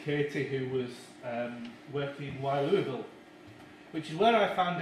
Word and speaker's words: Louisville: And this is Katie, who was working in Louisville, which is where I found out that you're supposed to pronounce it Louisville.